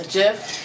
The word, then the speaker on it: GIF: now so a picture a moving picture is a gif it's not a gif if you follow grammar it's supposed to be gif but it's not a